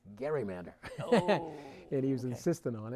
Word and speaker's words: gerrymander: gary and he told me you do not pronounce it gerrymander it's gerrymander and he was insistent on it and uh